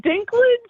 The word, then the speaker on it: Dinklage: Yeah, Peter is pronounced Peter. But you said Dinklage?